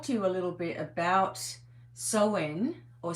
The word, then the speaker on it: Samhain: Anyway, so I want to talk to you a little bit about sen or sin as it's actually pronounced because it's like uh sour as in cow.